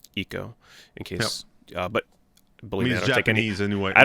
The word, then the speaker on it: Ico: yep that pronunciation's fine but ico eco ico it actually is um eco in case uh but